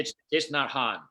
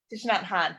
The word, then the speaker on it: Thich Nhat Hanh: Thich Nhat Hanh. Thich Nhat Hanh.